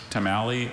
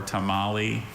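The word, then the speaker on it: tomalley: Tamalei or tamali or tamali.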